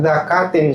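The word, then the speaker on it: ذكاة: dia mati dengan tanpa zakatin syar'iyah, penyembelihan secara syariat. Jadi zakat di situ tulisannya pakai zal, bukan pakai zai.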